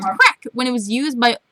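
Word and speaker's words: craic: new all right crack is pronounced well crack and it means general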